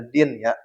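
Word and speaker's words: Dhien: Jadi ini dibacanya Din ya.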